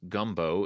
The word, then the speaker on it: Gumbeaux: in Lake Charles spells gumbo it is guu m b Au X which friend speakers will know that e Au and then with an X or an s on it or whatever is is pronounced like the letter O How come uh you